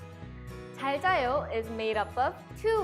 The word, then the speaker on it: 잘 자요: Let's first practice the pronunciation of 잘 자요. 잘 자요. 잘 자요. 잘 자요 is made up of two words.